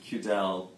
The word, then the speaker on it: Cudal: town the town is called cudle but they pronounce it cudal c u d a l it's out near